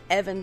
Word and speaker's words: Eben: me sharing the knowledge his name is evan and it's spelled e-b-e-n and it's short for ebenezer he was born into